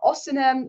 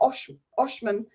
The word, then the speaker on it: Osimhen: His name is Victor Osimhen, not Oshman.